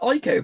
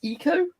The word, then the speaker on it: Ico: as I say it's I've always called it IO but I actually had to Google how it's pronounced apparently it's eco really but I thought it' be eco